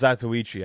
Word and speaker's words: Zatoichi: Zatoki. I think it's Zatoichi, actually.